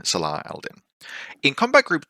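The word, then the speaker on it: Salah ad-Din: We then have a Sundukbut Neurokinetics and Saladin, or if you want to pronounce it accurately, Salah Aldin.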